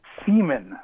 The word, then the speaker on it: Seaman: David Seaman? Really? Yeah, it was on Google Plus. Okay. A few years ago. Old David Seaman. Go ahead. Old David Seaman. Semen, yeah, like the ejaculate.